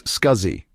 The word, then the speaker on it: SCSI: It is commonly pronounced as SCSI.